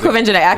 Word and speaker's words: Quvenzhané: It is Quvenzhané because I had to Google how her mom said it, and her mom said Quvenzhané because I really was just like, how do you say this baby's name?